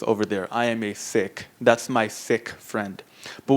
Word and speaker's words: Sikh: always people are confused is it sick or is it seik so when referring to the individual or the people it's sick so that's a group of six over there I am a sick that's my sick friend